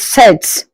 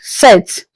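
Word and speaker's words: sept: Seven is set without the P pronounced set.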